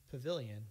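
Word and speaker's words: Pvilion: It's called Pavilion, but they spell it P-V-I-L-I-O-N, as in photovoltaic.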